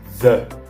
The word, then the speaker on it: the: première prononciation qui est the nous allons dire veille University the United States of America pourquoi malgré le fait que University et United commence par des voyelles qui sont des lettres les voyelles nos connaissent